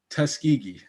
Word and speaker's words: Tuskegee: How do you pronounce it? Tuskegee.